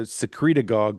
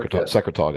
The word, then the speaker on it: secretagogue: Secretog, I think it's pronounced. Right. Secretagogue. Yeah. Yeah. Secretagogue. Yeah. What'd you call it? What'd you say, Paul? Secretagogue. Secretog. No, it's secretion like secretagogue.